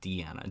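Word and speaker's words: Diana: Deanna doors I think I think it's pronounced I think I hear it Deanna Deanna sounds better at any rate I'll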